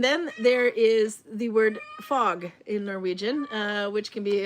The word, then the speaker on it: fag: And then there is the word fag in Norwegian, which can be a subject matter. Subject matter, So, yeah, pronounce F-A-G differently anyway.